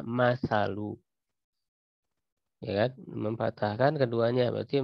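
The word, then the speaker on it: مَثَل: juga karimah, bi fathihima, dengan memfathahkan keduanya, maksudnya mim dan sa tadi berarti dibacanya masalu, ya kan, memfathahkan keduanya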